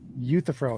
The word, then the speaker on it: Euthyphro: So I said Euthyphro is how you say it.